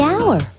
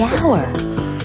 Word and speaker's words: hour: owner the animal the hour way h is not a vowel sound it's a consonant sound but it's not the first sound the h is silent the hour but what about the